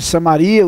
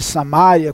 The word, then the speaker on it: Samaria: Samaritana pela região de Samaria ou de samária como Alguns podem pronunciar também e ele está indo